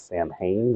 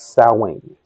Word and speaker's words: Samhain: Typically, Samhain, well, you probably have seen it pronounced as Samhain. That is actually an incorrect pronunciation. It is Samhain, as it is Celtic.